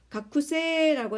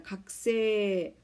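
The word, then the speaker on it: 学生: 가쿠세가 아니고 각세라고 발음해야 됩니다.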